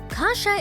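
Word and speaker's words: kasza: is kasha which is pronounced the same but spelled with a z instead of an H polish Kasha is made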